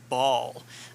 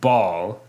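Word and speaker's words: Bhaal: oh wait so okay first off ball is that's spelled the b-h-a-a-l is right something like that yes okay not like a ball not like a bouncing ball all right exactly not like a bouncy ball at all so we are like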